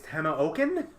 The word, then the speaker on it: Tamoachan: back again hidden shrine of Timon Chan or however you pronounce it apparently it's Tana oaken I just wasn't gonna